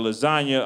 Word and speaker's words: lasagna: I'll give you that silent G in the word lasagna.